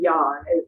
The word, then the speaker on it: yang: call it the yin yang. It's actually pronounced yan. Most people think it's yang. It's yan.